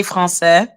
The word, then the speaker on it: Français: Yeah, you say French, we say Français.